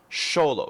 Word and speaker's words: Xolo: so this is the black balisong sholo it's spelled x o l o uh the V1 originally